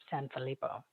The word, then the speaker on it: Sanfilippo: Like somebody like Alex Sanfilippo, which is a great last name, by the way, Sanfilippo.